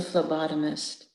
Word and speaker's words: phlebotomist: She was a phlebotomist. She liked saying it, phlebotomist. At first, Juanita thought it was spelled with an F, but when she learned it was spelled with a P, she straightened up a little.